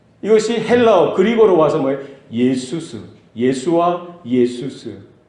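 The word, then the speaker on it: Ἰησοῦς: 예수스. 예수와 예수스. 그러니까 그리고를 보면요, 예수라는 그 발음이 뭐예요? 예수스. 따라합시다.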